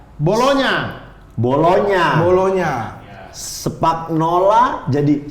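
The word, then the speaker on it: Bologna: G sama N itu jadi N sama Y. G sama N jadi NY. Jadi N. Dia kayak bolonya.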